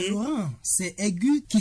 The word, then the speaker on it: aigu: Florent, c'est aigu qui s'écrit A U G U. Comment doit-on le lire donc ? Prospère, il faut le lire. Aigu.